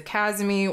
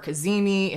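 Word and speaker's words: cazimi: Sun so of course this is a kazmi or kazimi if that's the way you want to pronounce it regardless it's an inferior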